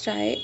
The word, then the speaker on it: trie: A try is pronounced as try or a prefix tree is a data structure